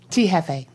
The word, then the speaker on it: T.Jefe: T Hefe.